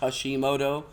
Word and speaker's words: Hushthemoto: just go on SoundCloud, look up Mr. Hashimoto, spelled Mr.Hushthemoto, but it's pronounced Hashimoto.